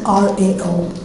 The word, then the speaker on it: Rao: My last name is spelled R-A-O.